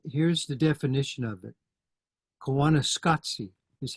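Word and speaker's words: Koyaanisqatsi: people uh and here's the definition of it kanana scoty is how you pronounce it and it comes from a documentary that was made in 1982 with that uh title Kos scopy as you can see means Crazy Life uh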